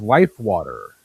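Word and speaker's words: LIFEWTR: I believe it's pronounced life water. Yeah, there's no E in there, is there? It's WATR. No A, no E. It's right. Everyone from Philadelphia refers to it as water. So WTR is actually probably the closest pronunciation for those Jerseyites and those Philadelphians.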